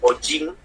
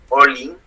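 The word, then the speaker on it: ollin: vez con doble L, en vez de decir ojin, olin, movimiento.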